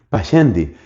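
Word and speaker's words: Pascendi: Esa encíclica se llama pasendi. Se escribe p a s cendi. Pachendi.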